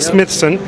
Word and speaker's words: Smithson: Smithson. It's a little bit hard on the S's.